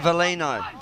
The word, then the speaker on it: Valino: It's Valino. Yep. So yes. Just drop the G.